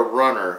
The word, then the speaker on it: Runnur: I found this uh this is called a runner and it's spelled r u n n uur I bought